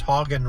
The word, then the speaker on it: Hagen: which that's how we pronounce it, Heagen Ranch Road. And um the the female voice on Google says Hogan Ranch, but the male voice on Google says Heagen Ranch.